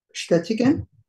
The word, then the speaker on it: bestätigen: Bestätigen. Ja. Remember everybody to pronounce the sh here.